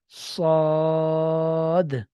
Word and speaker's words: صاد: So we tell them that look dear student, in English alphabet, as we can see that SAAD sounds exactly just like this letter, that صاد, صاد.